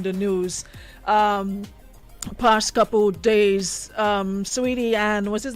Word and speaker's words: Saweetie: Listen, they said it's Sweetie, not Saweetie. It's Saweetie. Sweetie. Me and Menace had a whole debate on that. Menace, Serious? yeah, we even went on YouTube to listen to her pronounce it, and it's not pronounced how it's spelled. I was saying Saweetie, and it's Sweetie. The A seems to be silent in the middle.